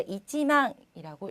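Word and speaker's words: 一万: 1만을 얘기할 때는 꼭 이치라는 꼭 숫자를 넣어 주셔서 발음을 해 주셔야지만 올바른 읽기가 되는데요. 자, 이치망이라고 읽으셔야 합니다. 망이 아니고요.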